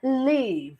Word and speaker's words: live: point to know that E at the end of the word is silent. She was like, live. She didn't even call the E.